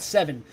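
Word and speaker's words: Se7en: No, it's called Seven. Instead of a V, they used the number 7. The correct pronunciation was 7.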